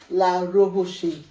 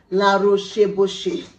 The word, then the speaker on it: La Roche: the second one is la rohoshi it is recommended by dermatologists as the name implies you can obviously tell it's a french word i tried pronouncing it let me try again la roche this is the sunscreen